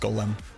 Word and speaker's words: golem: effort so that's it it's pronounced Golem it's a Hebrew term I also like I